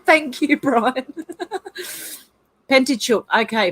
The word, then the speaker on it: Pentateuch: Brian said it's pronounced Pentateuch, Hev. Thank you, Brian. Pentateuch.